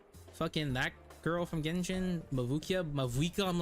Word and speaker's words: Mavuika: Mavukia? Fucking that girl from Genshin? Mavuika?